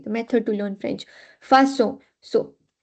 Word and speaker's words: façon: So, if we do not add CD, it's facon, and there is no word like facon. So, because in general, by default, it's con, it's pronounced as facon, but the actual word is façon. So, to make it sound like S, we will have to add CD.